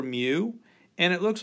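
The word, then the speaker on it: μ: mu and it looks like a cross between a u and an m and it's a mu and i sometimes write that out as m y u to kind of give you the idea how to say it a mu anyway that's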